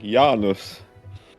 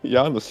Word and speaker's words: Janus: didn't change always like the Finnish pronunciation of Janus I think yanus Janis yanis yeah it's like yeah it does rhyme with anus kind of that yeah no